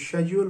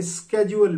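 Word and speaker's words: schedule: शेड्यूल भी कहते हैं इसको शेड्यूल भी कहते हैं इसे स्केड्यूल भी कहते हैं जब आप इंग्लिश कंट्रीज में जाएंगे तो आप डिफरेंट प्रोनाउंस एशन इसकी सुनेंगे even with in one country with in one country in different reasons इसकी प्रोनाउंस एशन डिफरेंट है इसके बाद रिटर्न टिकट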